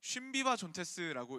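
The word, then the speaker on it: συμβιβάζοντες: 이게 쉬바존테스라고 읽습니다. 슈비바 존테스. 아, 쉼비바 존테스구나. 쉼비바 존테스라고 읽습니다.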